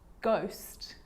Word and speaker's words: ghost: or rare occasions it's not pronounced the h is silent so it's choir choir echo echo with a g ghost ghost and with an r rhythm or rhyme